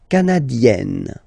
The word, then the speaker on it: canadienne: Le Canada, canadien, yin, here, canadien, canadienne, yen. Remember, here you've got double N, so you've got to open the so it will become E, canadienne.